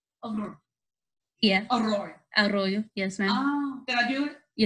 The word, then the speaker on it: Arroyo: If you got to roll the R a bit, it's Arroyo. Arroyo.